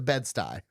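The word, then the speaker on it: Bed-Stuy: It's a bedsty. Stupid. I hate the way because it's spelled weird. Yeah. Yeah. I never I when I saw it on paper for the first time, I was actually really mad about it in New York. S t u y or sty like a sty s ye y bedsty the way it's spelled. Yeah. Well, it's short for like Bedford Stewavant or something.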